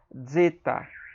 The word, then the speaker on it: zeta: Se bem que a pronúncia ela parece é como se ela tivesse um D e um Z, como aqui embaixo, ó. Um D e um Z, tá vendo? Então a ideia é que a pronúncia seria zeta, zeta, bem suave, zeta, tá?